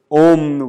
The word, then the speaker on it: Om: So Om, where we may be very familiar with, especially if you go to yoga classes, is actually 3 syllables, A, U, M.